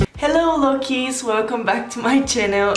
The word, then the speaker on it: Lockeys: their name and it's loki as long as i read its combination of look and key and you pronounce it together and it's loki which is so cool